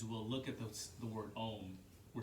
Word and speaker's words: Om: many traditional Hindus will look at the word Om, where it's broken into three sounds, specifically, like you said, A, U, and M.